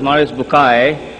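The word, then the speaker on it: Maurice Bucaille: Mوريس Bookaى, pronounced as Mوريس Bookaى.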